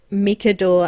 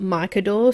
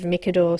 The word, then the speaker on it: Micador: the markers, and it was that it's actually pronounced Micador and not Micador, so it was something that they pointedly told me, so I do assume that they get lots of people calling it Micador instead of Micador, so I just wanted to mention that here